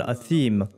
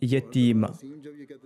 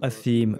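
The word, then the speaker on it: أثيم: Inna shajarata zaquma ta'amul athim ». Eh bien, le persan n'arrivait pas à prononcer le mot « athim » qu'il prononçait comme « yatim ».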